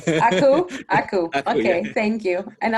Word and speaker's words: Akeu: Actually, it's Menglun Akeu. Akeu? Akeu.